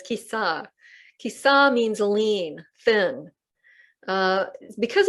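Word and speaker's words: Kisā: Kisa, I've been mispronouncing this for years. I keep mispronouncing it. I keep saying Kisa, but it's Kisa.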